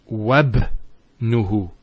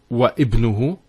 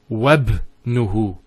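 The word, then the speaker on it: وابنه: we're actually reciting it, we don't pronounce this Hamza. We go straight to the ba. So it's wabnuhu. It's not wa ibnuhu, it's wabnuhu. It's like it joins the waw to the word ibn.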